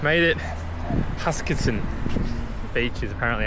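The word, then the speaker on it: Huskisson: Hakansen. Hakasen. Made it Huskinson Beach is apparently how you pronounce it.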